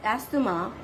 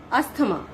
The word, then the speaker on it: asthma: Now, third word is asthma. Basically, the students as well as adults pronounce it wrong. They pronounce it asthma. That is wrong. We have to pronounce it as asthma.